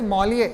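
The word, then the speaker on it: Molière: to remember at least one person that is Molly. That is how it's pronounced. Molly is the greatest French writer because that is how they claim him to be. If you remember at least one person Malier those who are into literature I'd be happy.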